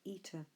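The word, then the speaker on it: ἦτα: if another e and this is a long e in English if I write a line over it we would pronounce at that as air its capital actually looks like the English letter H so that is air we called that letter eater one other of these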